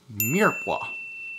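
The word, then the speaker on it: mirepoix: carrots onions and celery this is much better known as a Mira except it's spelled like this damn it why can't French be pronounced the way it looks mad now now to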